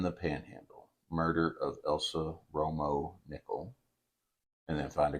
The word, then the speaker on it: Romo: put a a there but it is Romo oh like Tony Ro Romo okay I was like